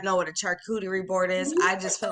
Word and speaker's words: charcuterie: So we got, So it's French, first of all, the name, right? it is French. So it's Hmm. pronounced charcuterie.